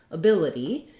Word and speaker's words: ability: all our first word ability has second syllable stress that means the bill syllable is long has the clear tense